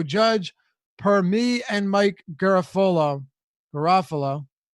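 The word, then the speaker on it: Garafolo: per me and Mike Garofalo Garofalo I always get his name wrong like Garoppolo Garoppolo New York Giants have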